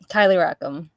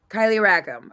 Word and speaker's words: Kylee Rackam: Kylie is it R I don't want to mispronounce it so can you just tell me Kylie rackam Kylie rackam okay we're gonna rack up points we're gonna